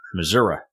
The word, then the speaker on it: Missouri: ears when I hear that word excellent ex Missour is that the other one Missour yeah Missour